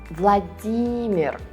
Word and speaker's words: Владимир: So again, remember that in Russian, you read this name with a stress on the second syllable. Vladimir.